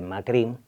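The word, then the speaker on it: Macrì: la familia presidencial macri cuyo apellido en italiano se pronuncia con un acento en la y que macri y viene de una zona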